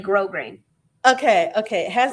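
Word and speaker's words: grosgrain: Well, I could be wrong too, but I think the S's are silent. So it's like grow grain.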